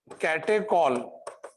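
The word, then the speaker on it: catechol: अब बेटा इधर देख लो, इसका नाम है कैटेकॉल। CHOL को चॉल नहीं कहते, कॉल कहते, कॉल, कैटेकॉल।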